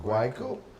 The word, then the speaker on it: Guayaquil: Creed Auto, and that's in San Luis Road, Guayaquil, that's how you say it, right? Yeah, Guayaquil.